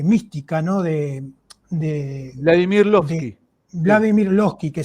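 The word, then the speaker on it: Lossky: no de de Vladimir lovsky Vladimir lovsky que se escribe l o s s k y si mal recuer y sí sí Sí sí sí loskii eh Sí loskii eso es muy interesante para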